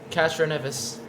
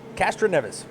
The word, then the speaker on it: Castroneves: all a i want to get the correct pronunciation of your last name castroneves castroneves okay yes now that i got that well